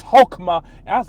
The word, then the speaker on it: Chokmah: supposed to be pronounced, it's not Chokmah, it's Hokmah.